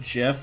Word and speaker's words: GIF: who like invented gifts he pronounced it jiff like of a lot